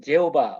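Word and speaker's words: Jehovah: 예, 영어로는 제호바 뭐 이런 뜻인데 이런 발음인데 영원 자존하시고 만물을 창조하신 이 스스로 계시는 하나님 이런 의미가 이 제호바 여호와의 이름에 들어 있습니다.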